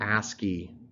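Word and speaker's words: ASCII: a SC I I for a short or a ski is the way we pronounce it this was one of a number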